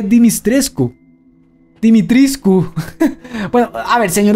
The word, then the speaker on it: Dimitrescu: Ethan lo pronuncia como Dimitresque. Y hay otros que dicen Dimitrisk. Pero supuestamente sí se lee Dimitrescu.